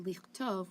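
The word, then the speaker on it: לכתוב: So for example, if for the shoresh katav, right, chaf tav vet, when you put a lamed in front of it, it's pronounced lichtov, which means to write, and that's in the infinitive form.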